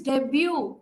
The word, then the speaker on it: debut: Tanya got married his debut debut right he's silent correct correct correct and finally